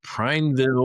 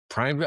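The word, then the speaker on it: Prineville: I don't know who's watching us in Primeville, Oregon, but they're clicking on that site all the time. Several times a week sometimes. Oh, nice. Somebody in Primeville.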